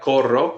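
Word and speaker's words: corro: r o that's right Coro good Cordo see try to roll that AR cores good and it's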